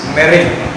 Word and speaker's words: meringue: The next important term you have to learn is meringue. The spelling is M-E-R-I-N-G-U-E, but still we pronounce it as meringue.